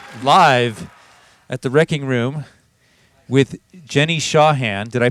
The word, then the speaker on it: Jenny Shawhan: We are here live at the Wreckingroom with Jenny Shawhan. Did I pronounce that right?